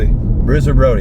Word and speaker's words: Bruiser Brody: yeah how do you say it Bruiser bro Bruiser Brody thank you sorry to him I I yeah